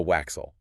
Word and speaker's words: waxel: The waxel. The waxel. This one rhymes with axle.